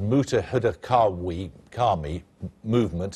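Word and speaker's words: Muttahida Qaumi Movement: North London the MQM is a well it's pronounced mutah Huda Kami movement at the MQM represents Muslims who arrived in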